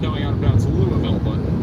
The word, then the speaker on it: Louisville: We'll say it almost in one soft syllable. And the part is very subtle. Louisville. All right, we got it. Louisville, Kentucky.